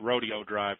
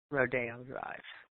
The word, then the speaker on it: Rodeo Drive: So I want to know why they don't call it Rodeo Drive, because that's how it's spelled.